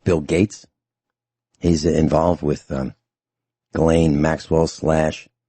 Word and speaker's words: Ghislaine: Rich, you mentioned Ghislaine. It looks like Ghislaine, but I believe it's pronounced Ghislaine Maxwell. And if you look at